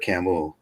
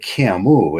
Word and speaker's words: Camus: I noticed when I was doing a research project on Albert Camus, and they pronounce it Camus, and then I looked at his ancestry in the town that he lived in, and it was not.